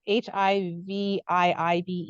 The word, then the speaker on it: HiViibe: And the reason we had named it HiViibe was because We put HI, like as in saying hello, hi, and then vibe, because, you know, your vibe, we were increasing the vibration of people.